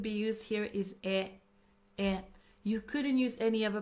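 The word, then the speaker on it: へ: is a direction particle it is pronounced as e but we write it as it indicates Direct ction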